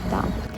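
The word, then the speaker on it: Dam: Ідемо ми в сторону головної площі міста Дам. Такий вигляд на площу можна зловити зйдемо. Назва дам буквально означає дамба голландською. Англійською, до речі, теж тільки читається Дем.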